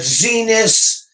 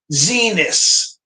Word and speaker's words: Xinis: And these judges, I mentioned a couple of them, Chen and Boasberg, who was nominated by Roberts, and Judge Zenas, that's spelled Xinis, Zenas, and a couple of others.